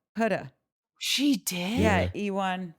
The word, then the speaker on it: Huda: When she came, she was like, my name's Huda. Like, shoulda, woulda, coulda. Huda.